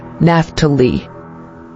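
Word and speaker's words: Naphtali: origin Hebrew naptali meaning my struggle or wrestling pronunciation naftali Bible verse Genesis 38 ESV then Rachel said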